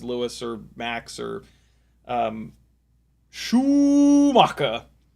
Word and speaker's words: Schumacher: I think it was Jer I think it was Clarkson actually uh pronounced uh Michael Schoecker's last name as Shuaka.